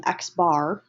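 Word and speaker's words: x̄: Now, the sample mean, which is pronounced um Xbar, okay, it's just an X with a bar on the top, is computed using sample data.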